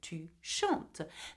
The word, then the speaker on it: tu chantes: - Shanta e s though there is an S we do not pronounce the S at the end so you say to shunt now for L and